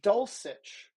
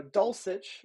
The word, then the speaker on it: Dulcich: nine number eight greg dolcich whom i now know how to pronounce his name i've been saying dolcic uh so dulcich is my number eight six